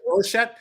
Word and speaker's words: Rorschach: Rorschach? The Rorschach. Yeah. Rorschach.